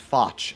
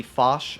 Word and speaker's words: Foch: for any of you fouch believers out there it is actually pronounced the fosh as you would say it in french so uh yeah just